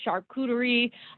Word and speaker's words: charcuterie: actually do you see say charcuterie charcuterie hard c charcuterie um so they shared